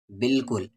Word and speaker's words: بالکل: پیش ہوگا۔ کچھ علاقے بالکل، بالکل کا اسپیلنگ یاد کر لیں، با الف لام کاف لام، جس میں یہ الف سائلنٹ ہوتا ہے، لکھیں گے پر پڑھیں گے نہیں۔ بالکل خشک رہتے ہیں۔